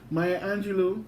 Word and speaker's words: Maya Angelou: i'll tell you how the right way to pronounce that maya angelou to the knight my angel my that song